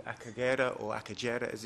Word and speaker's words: Akagera: woodland there's a big park called acaguera or akagera as it's pronounced in the east papyrus swamps which rwanda